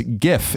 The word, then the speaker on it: GIF: what it says okay the creators of the format pronounce gif as GIF with a short G as in Jin Steve will height says that the intended pronunciation deliberately Echoes the American peanut butter brand GIF and copies of employees